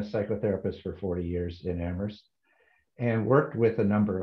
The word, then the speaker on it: Amherst: i'm pat wish i am very new to amherst i've learned how to say it without the